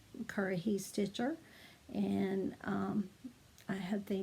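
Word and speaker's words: Currahee: say that exactly um but curry he is how you pronounce it and it's a cherokee word that means stands alone um in one of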